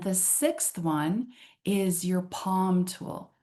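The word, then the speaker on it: pomme: Um, and the sixth one is your palm tool.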